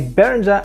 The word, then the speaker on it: Behringer: This, ladies and gentlemen, is a Behringer FX600. Well, actually it's pronounced Behringer, but that's another story.